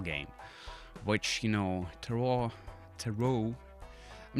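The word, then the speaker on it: Tarot: sounds fancy you know toot too toot well the t is silent obviously it's a French word I guess but um too cards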